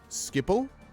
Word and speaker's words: Schiphol: This is Tari always makes fun of my pronunciations of these words. All right, let me see. Schiphol?